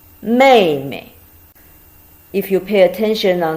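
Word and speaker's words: 妹妹: exactly the same but the last one pronounced light may me if you pay attention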